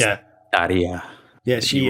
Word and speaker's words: Tarja: I was so sad when I call it Tarja, but I assume it is actually pronounced like Taya or something. Yeah, it's Yeah, Taria. yeah, You she. roll the R and it's like a Y sound.